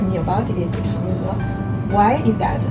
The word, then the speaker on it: Chang'e: How do you pronounce it? Chang'e.